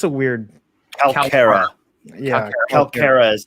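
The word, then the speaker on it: Kalkara: And that move consists of releasing the Calcara. Yeah, it's a weird. Calcara. Yeah, Calcara is how they pronounce it in the audio.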